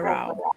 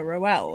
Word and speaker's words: Rowell: and they were like it rhymes with towels i was like okay